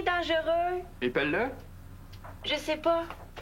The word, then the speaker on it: dangereux: Comment ça s'écrit dangereux? Épelle-le... Je le sais pas. Bien force-toi. D-A-N-G-E-U... Oup! oup-oup... Pas de U? Est-ce qu'on dit "dangeureux"? Des fois. On devrait pas. Il n'y a pas de U.